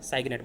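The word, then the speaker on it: cygnet: कि हंस का बच्चा, वो क्या कहलाता है, साइगनेट बोलते हैं।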